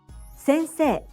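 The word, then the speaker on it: 先生: And the word for teacher is sensei, sensei, sensei. Sensei is made up of syllables se, n, sei. The last two syllables are not pronounced as sei, but as se.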